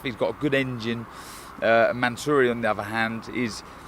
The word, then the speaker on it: Mansouri: Am I pronouncing that right? Yeah. Mansouri. Mansouri, yeah.